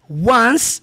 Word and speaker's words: once: É como se você estivesse falando do número 1, one com S. Once.